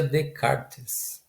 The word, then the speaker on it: Descartes: chegar o rené descartes se inscreve nesse cartas mas se pronuncia de karts quem foi redecar estamos